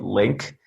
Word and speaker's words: LingQ: It's called Link. It's spelled LINGQ.